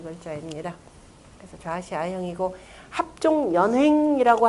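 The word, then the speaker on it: 連衡: 그래서 좌시 아형이고 합종 연횡이라고 할 때 연형이라고 써놓고 그때 읽을 때는 뭐라고 한다? 연횡이라 읽는다라고 그랬죠.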